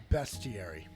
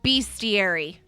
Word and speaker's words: bestiary: Yeah, it is pronounced bestiary. It's bestiary. It's a beast.